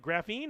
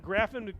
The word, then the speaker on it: Graffin: It says pronounce it like graphene. Graphene, is that how I'm supposed to pronounce it?